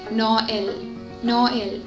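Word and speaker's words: Noël: ഇത് സോ നമ്മളെങ്ങനെ വായിക്കും, നോ എൽ. സോ ഓയും നമ്മൾ പ്രൊനൗൺസ് ചെയ്യണം, ഇയും നമ്മൾ പ്രൊനൗൺസ് ചെയ്യണം. അതിനാണ് ആക്സെന്റ് ത്രേമ അവിടെ നൽകിയിരിക്കുന്നത്. സോ നോ എൽ means Christmas.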